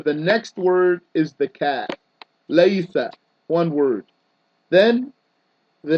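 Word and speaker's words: كَ: So it's a word made of one letter, simply pronounced as ka.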